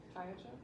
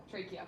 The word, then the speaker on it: trachea: The triacha? Or I know how to spell it. I'm just forgetting how to Go ahead and say spell it. it. T-R-A-C. Trachea? Trachea.